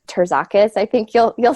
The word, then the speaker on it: Terzakis: name is and my last name is pronounced Jacques I think you'll you'll spell that out in